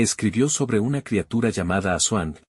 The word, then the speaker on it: Aswang: me escribió sobre una criatura llamada Asuang o Asuban, como se pronuncia más frecuentemente en el pueblo.